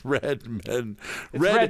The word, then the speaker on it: Redman: seeing some more carries is it red man or red men it's red men spelled Red Man pronounced Redman that's our own internal